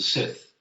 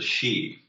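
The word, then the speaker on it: sìth: So we pronounce them as the Sith, but it's not. It's pronounced the Shee, I wish they would sort of write Gaelic phonetically because then you could pronounce it properly and not make a fool of yourself.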